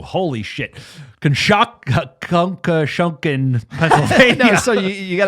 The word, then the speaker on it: Conshohocken: Concha Shunkin Honkin out here. It's like unbelievable. Somebody from this town, let us know how you pronounce it. Go for it. Conshohocken.